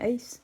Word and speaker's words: Ace: Et c'est bien Ace, hein, t'avais bien prononcé. Ouais, c'est bien Ace.